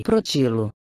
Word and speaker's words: Protilo: Não se justifica acentuar a palavra na primeira sílaba. Cabe seguir o exemplo de outras palavras da mesma origem, como protótipo, protoestrela, protossol, protrátil, protruso, etc.